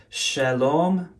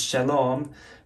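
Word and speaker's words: שלום: note here you know in hebrew you have shalom but instead of the o sound which is with that vowel there in ancient phoenician it was pronounced shalam so that's the phoenician pronunciation versus shalom versus where is it in arabic where it would say salaam let's see it's hard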